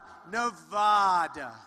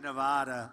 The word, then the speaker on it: Nevada: The Donald seemed delighted with his own pronunciation. Nevada. Nobody says it the other way. It has to be Nevada. Actually, Donald, wrong. This is right. Nevada.